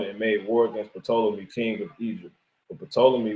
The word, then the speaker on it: Ptolemy: So it's an Egyptian dynasty of, right, as it says, pronounced Ptolemy.